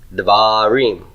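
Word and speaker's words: דברים: So that leaves da in an open propertonic syllable and then it has to reduce. So once it's done reducing, it's no longer considered a true syllable anymore, right? Devarim.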